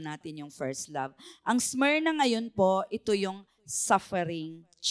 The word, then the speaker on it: Smyrna: So ganun pala yung pronunciation on Smyrna, okay?